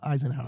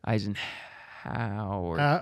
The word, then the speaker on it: Eisenhour: Eisenhower. Yeah, Eisenhower. Wait, yeah, Eisenhower? Eisenhower. It's spelled Eisenhower. I know, yeah. Yeah. Yeah. Eisenhower. Eisenhower. Yeah. Yeah, it's deceiving.